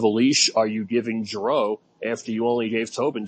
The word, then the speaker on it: Giroux: By the way, it's pronounced Giroux.